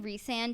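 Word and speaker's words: Rhysand: how everything with re I'm saying rean because that's how the author pronounces it it was just easy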